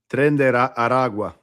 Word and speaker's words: Tren de Aragua: Salvador and places like that, or Venezuela with Tren de Aragua. It's going to be them, right? It's that's really the only difference. Did I fuck up the pronunciation of that? Tren de Aragua.